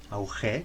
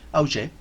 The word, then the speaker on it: Augé: Hay un concepto que acuña un pensador francés llamado Marc Augé, Augé con UE y acento en la E, Augé, que habla de los no lugares.